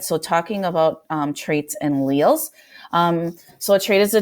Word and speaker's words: alleles: It introduces these things called traits, and this word right here is pronounced alleles, although it kind of looks like alleles, or I don't know how you guys think that is pronounced, but it's alleles.